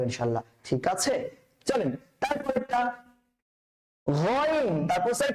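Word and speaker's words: غين: গয়িনটা কিন্তু বেসিক্যালি কণ্ঠনালী থেকে উচ্চারণ করতে হয়। তো কণ্ঠনালী থেকে উচ্চারণ করলে কোন জায়গা থেকে করতে হবে? কণ্ঠনালীর কয়টা ভাগ? 3টা ভাগ, প্রথম ভাগ, মধ্যভাগ, শেষ ভাগ। তাহলে গয়িনটা হচ্ছে খয়ের আপন ভাই, গয়িনটা হচ্ছে খয়ের আপন ভাই।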